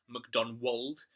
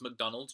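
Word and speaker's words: Macdonwald: the conclusion is that MacDonald, sometimes called McDonald, sometimes, depending on your script, called McDonwold, but it's pronounced McDonald, just like the fast food chain.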